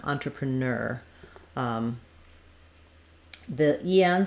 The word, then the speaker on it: entrepreneur: different different correct pronunciations they both are stressed on the first syllable though or actually on the last syllable entrepreneur and I can either say this one like newer or ner entrepreneur um the en says